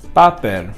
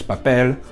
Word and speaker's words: papel: So some examples would be stuff like papel, comer, and criminal. The accent, or the stress, the stress will be at the very last syllable, no matter what, and there is no accent to be shown.